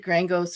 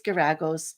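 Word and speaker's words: Geragos: I did say Terry Garagos' name wrong. I said Grangos or something, but it's Garagos.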